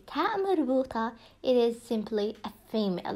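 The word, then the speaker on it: تاء مربوطة: see ending up with the ta marbuta, it is simply a female word, a phoneme word.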